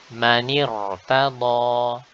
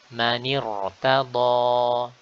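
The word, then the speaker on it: مَنِ ارْتَضَىٰ: Simpelnya atau mudahnya, apabila kita melihat atau membaca huruf ra sakinah dan sebelumnya ada hamzah wasal, maka dipastikan ra tersebut dibaca dengan tebal. Manirtada, manirtada.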